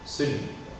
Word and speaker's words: celui: Et finalement, pour le démonstratif, celui. On en prononce le E muet. Celui.